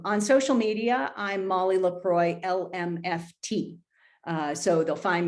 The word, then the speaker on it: LaCroix: m-o-l-l-y my last name i'm thankful for lacroix water because that's how you spell my name um and it's my